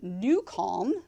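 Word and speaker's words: NuCalm: tailed as they say is because we use newon which is an amazing app it's spelled n u c a l m it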